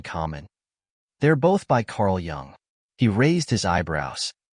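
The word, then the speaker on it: Jung: they're both by Carl Young he raised his eyebrows you say his name correctly better than you say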